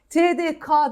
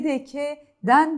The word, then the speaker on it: TDK: şuna dikkat edelim lütfen bizde K sesi var K sesi yok TD K demeyelim lütfen t tdk'den diyeceğiz değil mi tdk'nin diyeceğiz Buna da dikkat edelim